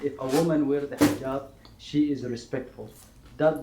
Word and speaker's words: hijab: respectfully with long sleeves, long pants, and a jihad. Uh-huh. A what? Hijab.